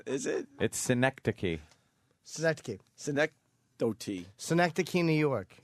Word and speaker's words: synecdoche: Someone is saying it's pronounced synecdote.